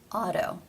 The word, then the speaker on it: auto: it is identical to the D sound as in the word Auto now in my videos and on my website in IPA I actually do use the D symbol here because that's how it's pronounced in conversation Auto both of these sounds